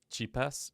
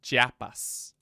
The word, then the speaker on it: Chiapas: weird how that's pronounced cheapest no Chiapas Chiapas Spanish or Aztec in